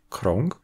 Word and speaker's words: krąg: C'est ce que l'on a en polonais, devant les consonnes occlusives et affriquées, avec des mots comme "kąt", le coin, "krąg", le cercle, "ręka", la main ou "pięć", cinq.